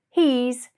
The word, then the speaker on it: he's: become he's and she's but be careful with the pronunciation of he's make sure you give it a good e sound so that it doesn't become confused with his he's his got it great